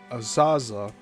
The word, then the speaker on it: Azhazha: Unquestionably, Admiral Vladimir Azaza, that's last name spelled Azhazha, is one of